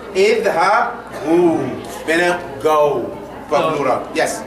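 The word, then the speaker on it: اذهبوا: No, that alif is silent. No, you don't pronounce it. So you say idhabu, meaning go.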